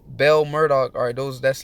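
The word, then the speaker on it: Marduk: right all right Kahn the name Murdock was probably pronounced mur who took the etymology of Murdock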